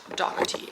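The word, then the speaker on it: Dougherty: And in case you didn't know, my last name looks like Dherty, but it's actually pronounced Dati. It's very, very Irish.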